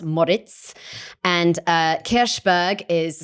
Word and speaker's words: Moric: name there so it's it looks like moric but actually it's pronounced Moritz and uh kbur is